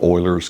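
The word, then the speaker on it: Euler: It's called Oilers's constant and Oiler is spelled E U L E R.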